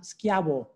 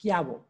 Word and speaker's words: Schiavo: that that is pronounced schiabo all right because just like my last name cio is pronounced trophy so ci is pronounced ch however c h i is pronounced k it's a hard c so c i and